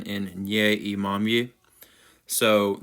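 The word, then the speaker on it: имамы: So there is one particular vowel that we do not have in English whatsoever. We don't even know how to pronounce it. Most English speakers struggle with it in Russian.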